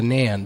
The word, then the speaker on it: Nain: yeah for the name it might be pronounced more like the nan but it's a little